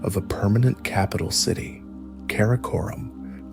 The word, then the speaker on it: Karakorum: In 1235 AC, Ogaday commissioned the construction of a permanent capital city, Karakorum, pronounced Kar-a-Korum.